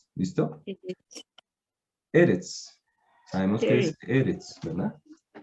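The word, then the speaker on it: ארץ: Entonces, eso hace que aquí se termine la segunda sílaba. Eretz. ¿Listo? Eretz.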